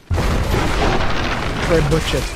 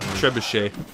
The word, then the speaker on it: trebuchet: Trebuchet 3 destroyed. Oh. How do you pronounce that? Trebuchet.